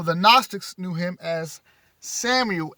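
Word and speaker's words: Samael: familiar to you the father of the all samuel that's spelled s a m a e l and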